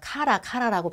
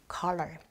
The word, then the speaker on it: collar: 왜 옛날 분들께서 약간 카라라고 발음하시는 그 color, 옷깃 같은 거예요.